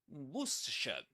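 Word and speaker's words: Worcestershire: This is not war or something like that. This is three syllables. And you can pretend it's spelled like this. Wer. And the accent, the accented syllable is the first one.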